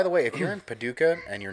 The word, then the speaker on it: Paducah: I'm going to pronounce it right. Paducah, Kentucky.